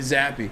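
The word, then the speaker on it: Zappe: he ripped them uh bailey zappi excuse me that's his name get his name right say his name bailey's happy tour michigan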